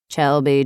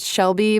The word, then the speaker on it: Chelby: "Chelby?" I raised my hand, even though he'd said my name wrong. "That's me, sir." "I'm Sergeant Stevens. Come with me, miss." It's pronounced Shelby, but with a C," I told him as